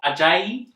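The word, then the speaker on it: Ajayi: we've got john stone in goal we've got ajay is that how you say it yeah it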